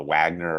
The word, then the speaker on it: Wagner: uh dorsal approach or Vagner approach yeah I am a big believer in the dorsal approach I have nothing against the Vagner approach or the Wagner approach how you say it um the the